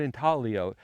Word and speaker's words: intaglio: you say the word in talio it's Italian the g is silent I got it so we're out here to investigate um another giant intalo or geoglyph uh that